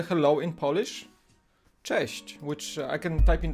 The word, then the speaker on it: Cześć: It's that's how you pronounce them. Cześć.